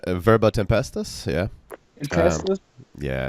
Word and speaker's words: Tempestas: Tempestas? Verbo Tempestas, yeah. Tempestas? Yeah, it's Okay. Latin for Y'all word want to go store. ahead and Yeah, introduce? sure. Yeah, I'm Latin. from Verbo Tempestas.